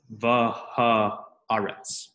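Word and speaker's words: והארץ: And you would pronounce the hay with the comets as a separate syllable. So, va-ha-aretz.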